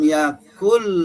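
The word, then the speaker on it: يكن: Misalnya dalam surat Al-Ikhlas, walam yakul lahu pakai kaf, walam yakul lahu kufuwan ahad pakai kaf. Sedang ada juga orang membacanya bukan pakai kaf tapi pakai qaf.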